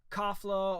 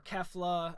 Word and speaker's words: Kefla: But we got to see the fusion of Caulifla and Kale in the form of Kafla or Kefla. I believe the Crunchyroll subs was Kefla. They pronounce it Kafla.